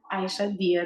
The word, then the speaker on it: Aïcha Dia: are you talk to it um so I'm Aisha dear that's how you pronounce it first of all um so both